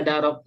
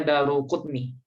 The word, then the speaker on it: Daruqutni: Tapi ada yang baca Darok. Ya. Ya pas diartiin bahasa Indonesia Imam Daruqutni Ustadz. Ya, kebanyakan membacanya Daruqutni ya, Bu ya. Daruqutni. Iya. Ya. Cuma kalau dalam bahasa Arab kadang ada Daro. yang salah baca daru gitu. Tapi yang masyhurnya Daruqutni.